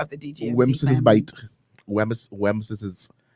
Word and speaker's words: Wemyss: I didn't show you the name. I show you how they pronounce it. It's like WEMYSS. That's Wims, no? I''S. Wems's bite. Wems's bite. They say that's how you're supposed to say it?